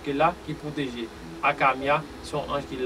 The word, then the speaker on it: Hakamiah: le génie, le 18e, 16e génie qui c'est Akamia et chérubin qui rapport avec vous et s'il